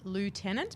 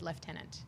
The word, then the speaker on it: lieutenant: So it's spelt lieutenant, but you actually pronounce it lieutenant.